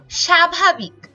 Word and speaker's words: স্বাভাবিক: সরণের উচ্চারিত হয় যেমন স্বাভাবিক এখানে আমরা দেখছি দন্তস এর নিচে ব রয়েছে এবং এটার উচ্চারণ আমাদের তালব্য স দিয়ে লিখতে হয় কারণ এটার উচ্চারণটা আসলে স এর মত এরপর আসল এখানে আমাদের